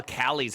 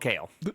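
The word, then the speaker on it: Kailh: I thought they were called Callie's for a long time. You're probably right. I have no idea how to pronounce it. You're right. They're actually called kale.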